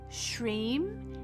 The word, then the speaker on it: Shrim: So the mantra Shrim is a one syllable sound known as a bij or bija or seed mantra.